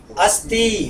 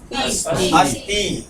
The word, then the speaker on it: अस्ति: देखिए आपने कहा अस्ति इसका उच्चारण करें मेरे साथ अस्थ बोले अस् अस्थ अस्थ सिंपल हिंदी में इसका अर्थ